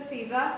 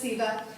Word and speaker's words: FIBA: FIBA another false eva the app is silent it is my pet peeve to say so fever so please don't it's just feva so it's a lot